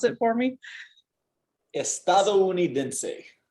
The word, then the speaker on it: estadounidense: So break it down by, so every now and then we get these big, long, complicated words, right? Don't get scared of them. Just break them down by the vowels, right? So you've got a syllable for each vowel here, right?